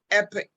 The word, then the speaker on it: epoch: 60th year uh which i call uh the epic 60 um and it's spelled e-p-o-c-h and um i was thinking about